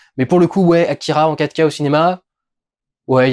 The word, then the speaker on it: Akira: J'espère que ça vous a plu, que j'aurais dû prononcer Akira. Avec un R qui ressemble beaucoup plus à un L en principe, mais c'est beaucoup plus facile de dire Akira.